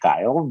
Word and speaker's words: Caio: It's pronounced like Kyle, but it's written differently because it's Portuguese, right?